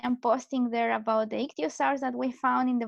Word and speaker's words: Ichthyosaur: Yeah, Ichthyosaur. Ichthyosaur.